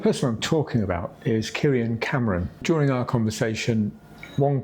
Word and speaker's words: Kierian: Am I pronouncing that right? Because you've got a lot of I's in there. Kierian. Kierian.